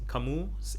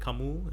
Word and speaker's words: Camus: problems are like is life i think cameras camus albert camus is that how i pronounce it he said um the questions in